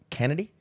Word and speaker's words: Chennedy: Oh, it's pronounced Kennedy? Oh, okay. Miss Chennedy Carter. The H is silent, I guess.